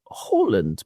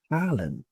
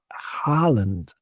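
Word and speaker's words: Haaland: and he pronounces it Alland with a sort of throaty but he doesn't mind if British people drop the throatiness from the H and we say Harland Harland like an American says Holland Harland.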